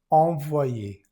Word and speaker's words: envoyé: Aquí tenemos la en n. Es una vocal nasal. Se dice, envoyé, envoyé.